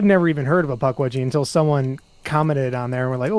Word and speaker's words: Pukwudgie: Is that pronounced Pukwudgie? Pukwudgie, yes.